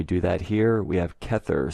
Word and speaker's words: Kether: that here we have kether spelled with a c which is pronounced as a k in hebrew catcher also known as